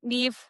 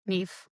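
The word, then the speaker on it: Niamh: But yeah, Nev, which uh if anybody's reading it, that's how you pronounce N I A M H. Nev. It's Irish.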